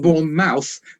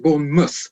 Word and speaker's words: Bournemouth: pronounce pronounce it correct Bourn mouth yeah because born mouth we pronounce it born Muth oh my God it's very strange I know